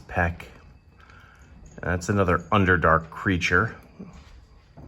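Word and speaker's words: Pech: It looks like it's spelled Petch, but I believe it's peck.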